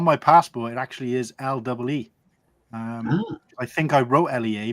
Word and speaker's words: Lea: It's made by a company called Lee & Perrins, and the Lee in that is spelled Lea.